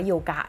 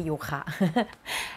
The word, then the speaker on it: โยคะ: โยคะ ทุก เช้า แล้ว อ่าน ว่า โยกะ นะ ไม่ ใช่ โยคะ ลอง แต่ง ประโยค นี้